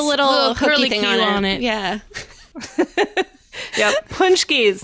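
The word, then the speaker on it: pączki: on it yeah yeah punchies not spelled like they uh sound at all because Polish people are awesome that way I love so a punchki of course is a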